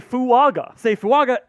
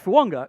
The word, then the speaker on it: Fuaga: So all of the pronunciation guides say Fuaga. Taliesin Fuaga. Yeah, Taliesin. And then at a Senior Bowl interview, he's like, no, it's Talise Fuanga. Like how Tua Tagovailoa has the invisible it's Samoan.